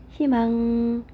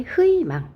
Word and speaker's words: 희망: 그러니까 얘 같은 경우에 자음 히읗이 있으니까 희망 이렇게 발음해야 되고, 얘도 당연히 협의 이렇게 발음해야 되겠죠. 네. 그래서 지금 3번에 희망 할 때 흐이망 이렇게 발음하는 거 안 된다.